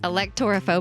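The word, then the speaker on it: electorphobia: are alhob I mean Al elector phobic like did you Google the pronunciation let's try it again elector phobic there we go so electricity no that's electrophobia this is elector phobia voting like Electoral College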